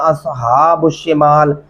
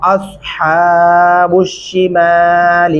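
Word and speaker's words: أَصْحَابُ الشِّمَالِ: ये इस तरह पढ़ना बिल्कुल गलत है। इसका दुरुस्त तरीका क्या है? वह अस स्वाद पढ़ते हुए हमारे होंठ गोलाई शक्ल में होते हैं और यहाँ पे बारीक हा पढ़ेंगे। व अस्हाबुश शिमाल मा अस्हाबुश शिमाल।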